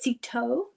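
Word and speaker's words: Cîteaux: He was the abbot of the monastery, the abbey, I think it's pronounced Citeaux.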